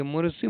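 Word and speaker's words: Mauriceau: इस मैन्युअर्स का नाम है मोरिसू मैन्युअर्स। क्या नाम है, मोरिसू मैन्युअर्स। इसको हम लोग पढ़ते हैं, प्रोनाउंसिएशन करते हैं मोरिसी मैन्युअर्स।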